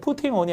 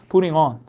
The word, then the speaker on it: putting: 모음모음사의 T 이렇게 강사 앞에 있으면 이거 굴려요. 그래서 미국 사람들은 putting on이 아니라 putting on.